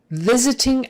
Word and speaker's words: visiting: there long eye virus visiting hours visiting hours the both eyes are short those first two visiting that s turns into a z it's not visiting visiting